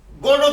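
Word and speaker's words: Godot: गोदो की स्पेलिंग बताइए। GOTOT गोदो। टी है तो बोलिए ना टी है। सर टी साइलेंट है।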